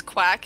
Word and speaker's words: Uwac: familiar with and yes the town name is quack it is a seaside town and it is not spelled like your regular spelling of quack it's uwac just for